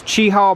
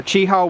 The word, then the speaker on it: Cheaha: and then it's actually see that's the word Chiho that's the way it's spelled Chiho and this is Chi Hall mountain or Chi Hall wilderness see the Chi